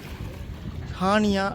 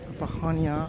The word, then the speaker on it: Chania: great என்ற ஐலாண்ட்ல உள்ள ஹானியா என்ற இடத்துல நிக்கிறேன் ஷானியா ஸ்பெல்லிங் சரியா தெரியல நார்மலா சிச் என்று எழுதி இருக்காங்க அந்த சிஎச் வந்து அது உச்சரிக்கிற ஹானியா என்று வரும்னு நினைக்கிறேன் அதனால இதுல உள்ள ஒரு ஓல்ட்